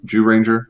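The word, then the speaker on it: Zyuranger: I think they have 8 or 10 seasons out now, going back to Jew Ranger. Yes, it's spelled ZYU, but it's pronounced Jew, Joo.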